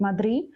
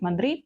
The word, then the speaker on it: Madrid: букви і Напа дуже Дуже часто я чую як іспанці кажуть мадрі але в деяких регіонах все ж таки вимовляють останні букви кажуть мадрі То це в залежності від регіону можна так можна так і так і так Правильно а